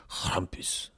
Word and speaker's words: Krampus: Krampus. That's how they say it, because like it's German. Krampus.